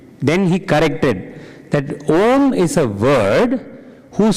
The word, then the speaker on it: Om: Then he corrected that Om is a word whose spelling is not OM means in terms of pronunciation it is actually three letters that combine but they are not separate as sister said why